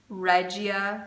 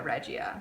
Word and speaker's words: Regia: work with Regia, and they call Regia Regia. So just because it's a German brand doesn't mean that their name has to be pronounced, you know, with a German tongue.